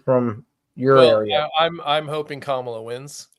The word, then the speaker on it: Kamala: Now it's 50% Trump, 48.3 to Kamala. Yes, she was. Is that how you say it? Kamala? No, it's Kamala.